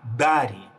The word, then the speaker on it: Дари: Тогда я изобрел другое слово и сказал, что месяца будут у нас называться Дари, ударение на А, Дари.